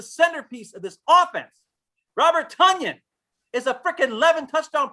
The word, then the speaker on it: Toney: And it's No, actually it's actually Tony.